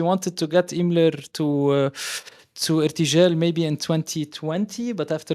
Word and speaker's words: Irtijal: But Sanam, the project, as I say, it traces its origins to, is it the Irtijal festival? Is that how you pronounce it? Irtijal, yeah.